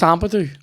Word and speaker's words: Ampadu: Can't imagine that's how it's pronounced, but that's how I'm saying it. What? Is it? It's Ampadu.